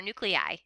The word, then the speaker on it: nuclei: Those are the nucleus, or nuclei is how you say it, plural.